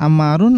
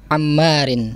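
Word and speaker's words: عمار: Nah, Ammar dibacanya Ammarun atau Ammaron ini? Ammarin. Ammarin. Kenapa? Dikarenakan sebagai mudhof ilaih. Karena sebagai mudhofun ilaih.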